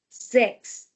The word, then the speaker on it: sechs: So, because after S we have vowel, we will be having Z sound for both number 6 and number 7.